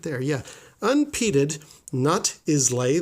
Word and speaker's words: Islay: there yeah unfitted nut Islay that's actually pronounced ila Scotch malt or a